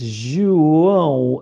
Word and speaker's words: João: So Ju, like the O in Portuguese is often pronounced U, not O, which is different to the other Latin languages. And the J is obviously J, and it's João.